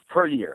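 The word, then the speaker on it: Puryear: with Eugene Eugene purer I can never pronounce it right per how you how you pronounce it per year okay per year um and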